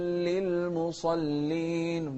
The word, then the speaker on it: للمصلين: فويل للمصلين، ما نقول فويل، لا، فويل للمصلين. شوف الصاد، للمصلين. اللام مرققة، مصلي، مصلين.